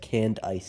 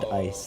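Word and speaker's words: Candice: I think it's supposed to be pronounced canned ice, if you can believe it. Because she's an ice-type gym leader.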